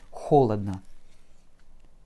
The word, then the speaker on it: холодно: Холодно. Ch, O, L, O, D, N, A. Et un bel accent sur la première syllabe, ce qui rend nos deux derniers O comme des petits A.